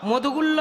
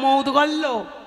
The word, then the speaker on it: মৌদগল্য: বেশ, হ্যাঁ বাবা, মধুগুল্য নয়, উচ্চারণটা হবে মৌদগল্য।